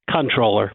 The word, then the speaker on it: comptroller: French for computing but most people actually pronounce it controller but um technically it's